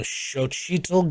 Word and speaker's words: Xochitl: Newcomer to the series, America Chavez, played by, I'm gonna butcher this name, Xochitl Gomez?